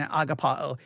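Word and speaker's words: ἀγαπάω: because the email says agape and then and agapa oh and and okay so if i if i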